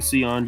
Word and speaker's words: Sion: Cam Jones, Sion. Apparently it's actually Sion James.